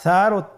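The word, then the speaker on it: ثاء: মাখরাজ হলো উচ্চারণ স্থান জিহ্বার আগা সামনের উপরের দুই দাঁতের আগার সঙ্গে লাগিয়ে উচ্চারিত হয়।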